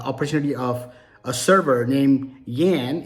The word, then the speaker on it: Jan: of a server named Yan it's Jan spelled j-a-n but he pronounced it as Yen and uh he gave